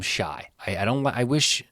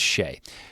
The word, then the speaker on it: Shai: Shai, I always call him Shy. You know what? I'm sorry. It's Shai. Shai Gill, Jokic, I keep pronouncing everyone's name wrong.